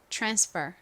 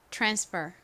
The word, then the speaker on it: transfer: 의미입니다 환승하다 발음해 볼게요 transfer transfer 티에 바로 뒤에 아이 오면 티에 티 소리에 살짝 치이 섞인 소리가 난다라고 설명드렸죠 자 이제네 번째 단어